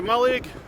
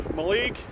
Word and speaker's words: Mallaig: Just going to go for a bite to eat before I get the train to Mallaig, or Mallaig. There's no definitive pronunciation, we all do it differently.